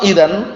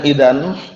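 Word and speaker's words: إذن: kita lihat lagi fat Idan bukan ID bacanya Idan fat Idan hukmha maka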